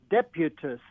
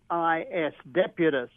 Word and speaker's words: Deputus: And so the name of the meerkat is Deputus. Let me spell that. D-E-P-U-T-I-S, Deputus.